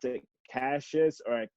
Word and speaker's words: Cassius: in the drawer no it's fine American say Cassius but in England mistake us yes but America every time I meet someone from America they get they call me Cassius so it's cool that Americans that's how it